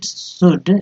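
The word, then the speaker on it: should: the completed completed response शुड इसमें L silent है शुड be writ written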